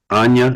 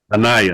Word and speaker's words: Anaya: But Anya, is that how you say it? Anaya? Anaya. Anaya.